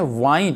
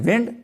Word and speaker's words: wind: Similarly WIND विंड, जब इसको हम कहते हैं वाइंड तो इसका मीनिंग होता है टू क्वाइल, घड़ी को चाबी देना, वाइंड। जब इसको प्रोनाउंस करते हैं विंड तो इसका मीनिंग होता है द ब्लोइंग एयर, तेज हवा, जक्कड़ जिसको चलती हैं उसको हम क्या बोलते हैं विंड।